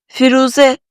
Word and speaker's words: firuze: And in the word ‘firuze’, the vowels ‘i’ and ‘u’ are pronounced softly although they don't use the hat. However, since the softening of the ‘i’ sound is barely noticeable, just pay attention to the ‘u’ sound.